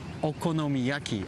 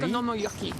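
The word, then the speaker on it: お好み焼き: Okonomiyaki. Actually, Okonomiyaki.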